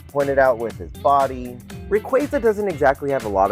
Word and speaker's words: Rayquaza: I know it's pronounced Rayquaza. I'm gonna say Rayquaza.